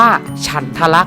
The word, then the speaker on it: ฉันทลักษณ์: ครับ ว่า เขา เรียก ว่า ฉันทลักษณ์ อ่าน ว่า ฉันทลักษณ์ นะ ครับ เป็น ข้อ บังคับ ใน การ แต่ง